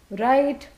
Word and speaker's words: write: So the ability to read, write, and recognize, the 3 R's. Why? How come right is R? The W is silent. See, even when we say right, we don't say right, correct?